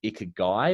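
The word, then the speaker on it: ikigai: can do um around i think it's pronounced ikka guy which is a japanese term um so it's what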